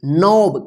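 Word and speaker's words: knob: घुटना देखिए यहां पे के एन ओ बी इसको क्या पढ़ेंगे नोब कनब नहीं पढ़िए ठीक है नोब का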